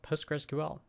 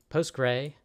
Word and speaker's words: PostgreSQL: postgres community and really how to write and pronounce postgresql and the way to do it you can